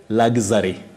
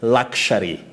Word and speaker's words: luxury: are those people who have said luxory luxary and that is not that is not the pronunciation of this word you say luxury luxury you can also